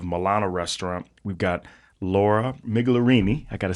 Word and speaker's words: Migliorini: We've got Laura Migliorini, I got to say it right, Migliorini, and also the manager of Milano, Miss Laura Trent.